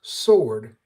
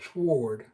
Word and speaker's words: sword: I hear people speaking instead of saying sword, they say swore. It's same kind of ridiculous stuff. It's one It's the pronunciation of the word is sword and it's not swore.